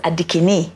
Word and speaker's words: Adikini: On Instagram, I'm Adikini, but my people pronounce it as Adikini.